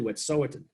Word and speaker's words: Wet'suwet'en: Yeah, which I keep pronouncing wrong, and I need to do better there. It's actually Wet'suwet'en.